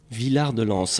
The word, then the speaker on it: Villard-de-Lans: Maintenant, si on dit Villard-de-Lans ou Villard-de-Lans, pardon pour la prononciation. Villard-de-Lans.